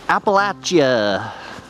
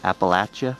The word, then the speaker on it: Appalachia: wintery wonderland known as appalachia this is how they say it here apparently that's how you say it apple at you like if you're throwing an apple appalachia appalachia oh did i